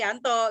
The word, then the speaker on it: Yanto: Oh, jadi kamu tolong dong baca ini, enggak Janto salah, itu bacanya Yanto gitu ya.